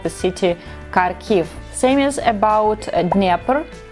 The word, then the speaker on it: Kharkiv: how to say it correctly carico of Kharkiv Kharkiv is a Ukrainian version and you can see Kharkov when you book their airplane ticket because our